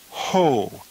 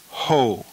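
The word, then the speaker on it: ᾧ: The masculine singular dative is ho. Again, notice the iota subscript for the singular dative. The iota is not pronounced, though, but it must be written. This is pronounced ho.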